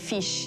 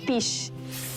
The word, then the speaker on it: fish: For example, I was teaching Qiuqiu how to pronounce "fish" He was pronouncing it as "pish" F-f-fish P-p-pish Did you plan to have three children?